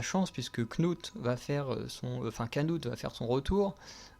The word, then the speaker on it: Knut: puisque Knut va faire Canute va faire son retour. Puisque ça s'écrit Knut, mais à chaque fois ils disent Canute, je comprends pas.